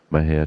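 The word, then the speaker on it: Mexia: theater 923 East Main Maha Texas Mah is spelled m x i a our ZIP 7666 M&J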